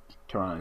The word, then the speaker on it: Pteron: So Pteron is my favorite level 4. I know. The P is silent.